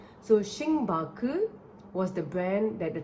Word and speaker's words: Xingbake: Instead, they used Chinese characters, but it was the phonetical pronunciation of Starbucks. It was Xing. Xing means star, so that was a translated version of star into the Mandarin language. And then Baku. Baku is the phonetic pronunciation of bucks.